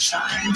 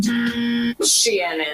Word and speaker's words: Shein: Welcome to the world of Shine. Yes, like I don't think it's shine. Shein is how I tend to pronounce it.